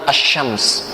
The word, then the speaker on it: asy-syams: Maksud alif lam syamsiyah qamariyah itu maksudnya bacalah al, alif lam, al, syamsiyah seperti dalam kalimat asy-syams.